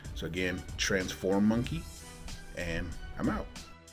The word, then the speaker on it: Transformonkey: So again, Transformonkey.